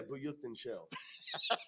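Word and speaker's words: Buyukcencel: Yeah, Buyukten Shell. See, I told you. I told you that's how you pronounce it.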